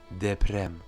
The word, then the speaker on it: deprem: Alors que s'il est au milieu d'un mot, il sera davantage roulé, comme on le voit dans le mot deprem, le tremblement de terre.